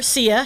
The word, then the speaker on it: Syya: Cause my okay, Well, the singer, Sia Chandelier, right? is it spelled like that? No, but same pronunciation.